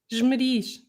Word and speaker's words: Esmeriz: Esmeriz. Esmeriz. It's the rising ish at the end, isn't it? That failed. Esmeriz. Yeah. Ishmarish.